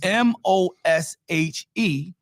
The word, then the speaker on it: Moshe: That's why we spelled trying to get it is spelled M O S H E and pronounced Moshe and it is taken from the root word or the verb rather Masha.